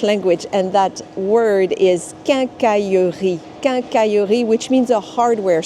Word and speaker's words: quincaillerie: of the French language, and that word is quincaillerie.